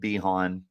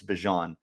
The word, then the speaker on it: Bijan: bajan robinson from texas i really wish he pronounced it bihan because my inner mortal kombat fan would just totally geeked out over it but i'm ninety percent sure it's bijan robinson if it is bihan